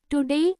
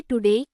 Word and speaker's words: today: In words where O doesn't get stress, don't pronounce it strongly. Say it softly like A. For example, say today, not today. Police, not police.